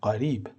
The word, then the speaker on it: قریب: جور هم تلفظ میشه اما در عربی اینجور نیست در عربی اولی به صورت غریب و دومی به صورت قریب تلفظ میشه پس لازم به تذکره